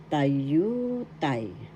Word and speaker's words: tayutay: And the seventh one is tayutay. Tayutay. Figure of speech in English. First syllable ta, second syllable you, third syllable tay. The second syllable has the accent tayutay.